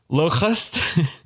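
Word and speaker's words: Lokhust: Locust. There is a copyrightable H in there, and you got to pronounce it like the H in Terra.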